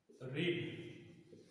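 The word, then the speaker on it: read: রিড, এটা তিনটে বানানি এক, কিন্তু উচ্চারণটা একটু আলাদা। এটা হচ্ছে রিড, এটা হচ্ছে রেড, এটা হচ্ছে রিড।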